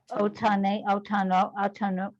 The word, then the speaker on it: otanu: Olam, le'olam, hayom, otanu, wow, atanu, O. The otan. first syllable's O.